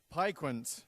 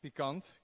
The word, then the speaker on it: PiQuant: PiQuant. Okay, good. Definitely looking at the slide, it's not the Dutch way, which would be PiQuant.